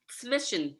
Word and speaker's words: Zwischenzug: Like a TS, the Z's are pronounced not as a Z, but as a TS, so it's Zwischen.